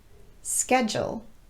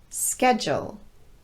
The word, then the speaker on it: schedule: our marketing procedure has been changing over time schedule schedule i need to schedule a meeting with her